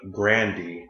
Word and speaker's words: Grande: Ariana Grande, because that's how you actually pronounce her last name, dropped a music video to Thank You Next.